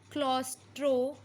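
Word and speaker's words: claustrophobia: Relate करके पढ़ेंगे हम क्लॉस्ट्रोफोबिया। स्पेलिंग में थोड़ा सा डिफरेंस है, बट आपका साउंड सेम कर रहा है लगभग, क्लॉस्ट्रो, क्लोज से साउंड कर रहा है क्लॉस्ट्रो।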